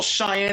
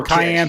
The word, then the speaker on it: cayenne: And maybe a little Cheyenne if you want some kick. Little Cheyenne. A little cayenne pepper.